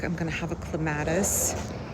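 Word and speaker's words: clematis: And then along the back, I'm going to have a clatus. I know they're pronounced clamatus, but I prefer to say clatus.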